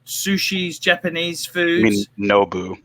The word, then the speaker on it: Nobu: We don't have a Nobo. Nubu. How do you pronounce it? Nobu.